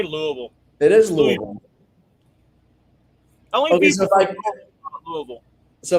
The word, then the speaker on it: Louisville: Oh, he's at Mercertown, so he's in Louisville right now. Oh, yeah, he did say that, yeah. Oh, he was in Louisville. That's right. Louisville. You ain't from Louisville, so don't even say Louisville. It is Louisville.